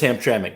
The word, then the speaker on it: Hamtramck: and you did say it right it is hamtramck well done uh but now we call it